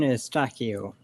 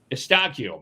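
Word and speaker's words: Eustáquio: Stefan Estakio. Estakio.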